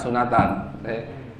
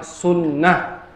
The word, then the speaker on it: sunnah: sunat itu khitan sunat sunatan cuman yang betul bacanya kalau dari bahasa Arab yang betul bacanya sunnah kalau mau disukun Akhirnya bukan sunat itu salah kalau dari bahasa Arab